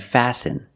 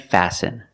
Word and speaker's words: fasten: have patterns letter patterns where the t is silent example listen and fasten you see s t